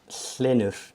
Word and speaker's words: Hlynur: So you pronounce my name Hlynur. Hlynur.